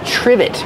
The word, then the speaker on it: trivet: is a trivet trivet use the short I like this is and the V sound triv trivet it starts with tr so we make the CH sound like chicken together with the r CH trivet this is a